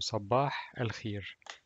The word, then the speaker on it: صباح الخير: Ye, ye, and here it's pronounced like e al khi, and the last letter is re, and pronounced like r. So sabah al khir.